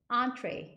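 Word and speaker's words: entrée: 근데 이거는 발음이 미국식 발음이 아니라 약간 프렌치 발음이에요. entree 이렇게 발음하고요.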